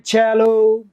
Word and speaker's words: cello: है ना, तो वो इसको सेलो नहीं बोलते फिर अंग्रेज। यहाँ पे सी का साउंड से नहीं आता, यहाँ सी का साउंड कै नहीं आता, यहाँ सी का साउंड च आता है। कैन you believe it? सी का साउंड क्या आएगा यहाँ पे? च आएगा। CELLO इसको हम कहते हैं चैलो।